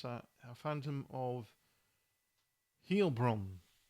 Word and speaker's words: Heilbronn: For 16 years, German police chased an elusive female serial killer known as the Phantom of, how do you pronounce that? Phantom of Heilbronn. Heilbronn, as the same female DNA was found at 40 crime scenes, including 6 murders.